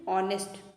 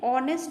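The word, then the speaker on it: honest: pregnancy है ठीक है इस तरह से ऑनेस्ट यहां पे हा एक तरह से आप समझ सकते हैं ये साइलेंट है प्रनंसीएशन करने में ठीक है ऑनेस्ट में ओ है पहले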